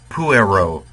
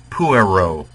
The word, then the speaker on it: puero: not pronouncing it right remember the uh the the the rule for accents is if the second to last syllable is long give it the stress but if the second to last syllable is short as in puer here in many cases then the third to last syllable gets it so let me repr pronounce it pueri puero puerum puero uh in those cases the accent should be on the U now here because the